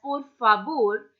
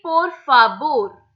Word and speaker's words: por favor: So if you ever notice a Spanish speaker speaking Spanish, so the pronunciation of V in Spanish is always pronounced as B.